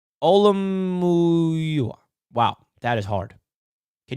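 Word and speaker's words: Olumuyiwa: Olamuyoa. Olamuyoa. Wow, that is hard. Can you guys help me? Olamuyoa.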